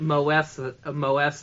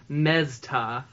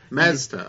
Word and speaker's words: Moesta: Yeah, it's not Moesta, it's Mezta. Mezta, okay. Yeah, the O is silent.